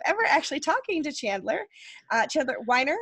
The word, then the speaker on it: Chandler Weiner: Chandler Weiner, am I saying it right? Yes, Chandler Weiner.